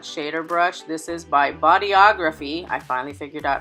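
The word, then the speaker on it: Bodyography: with a flat shader brush this is by body ography I finally figured out how to pronounce that damn word it's the body ography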